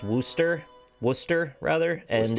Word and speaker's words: Worcester: to tell you that it's pronounced wooster worcester rather and it's